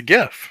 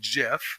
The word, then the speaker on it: GIF: word the active is most commonly pronounced GIF soft G as in gem so GIF so it